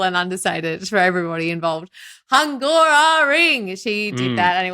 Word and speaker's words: Hungaroring: over in the Hungaroring, which is Hungara Ring, which is come on, pronounce it properly. Sorry, I should be saying. I know this is way too simple and understated for everybody involved. Hungaroring.